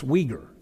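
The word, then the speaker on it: Uyghur: to this one that I even mispronounced the first time you know but it's Weger and it's a dialect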